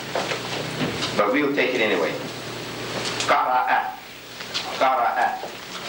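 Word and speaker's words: قرأ: Qara'a. It's the same as the one we gave before, it with Hamza on Alif. See? That's just Hamza on Alif. And Alif is pronounced A. Qara'a. See? Qara'a.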